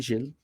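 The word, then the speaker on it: Gil: Jill, on dit Jill. Jill Kenan. G-I-L.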